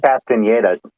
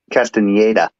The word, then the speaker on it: Castaneda: I think it's actually pronounced Castaneda as well. Just to let you know. How's it pronounced? Castaneda.